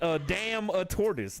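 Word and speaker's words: Adamantoise: I can't pronounce a dumbass name. Oh, it's a damn a tortoise.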